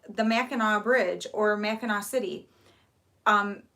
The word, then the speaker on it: Mackinac: yeah so people look at and they'll say makanak island or makanek whatever and i'm like it's actually mackinaw it's spelled with the sea but it is pronounced